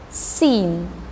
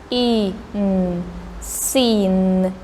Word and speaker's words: scene: the next word is sin this letter c is silent we don't read it anyhow and magic e in the end is also silent so we read on this sin sin so um all